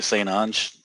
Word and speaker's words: St. Ange: Are we allowed to say St. Ange? Is that yes, who you're with? You pronounced it correctly, and I appreciate it.